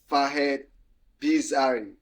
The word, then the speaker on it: Fahed Bizzari: So the guest is Fahed Bizzari. Guess I pronounced the name right? So Yes. Fahed Bizzari.